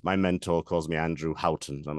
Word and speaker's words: Houghton: My family says Houghton, as in like the coffee chain, the Tim Hortons, but I've heard every possible variation on it.